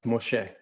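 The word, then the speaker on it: משה: It would be Mem Shin He, and it's pronounced Moshe.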